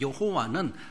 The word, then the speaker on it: 여호와: 여호와는 한글화한 그런 발음이다, 이렇게 생각하면 되죠.